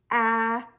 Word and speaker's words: at: out with your child, you're saying at, not ma-at, right? Because now you're, again, adding that schwa sound at the end.